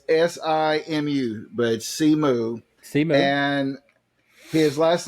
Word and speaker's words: Simu: um Sean Chi yeah the Marvel movie is pronounced simu it's s-i-m-u but C moo and his last name is Lee Jew see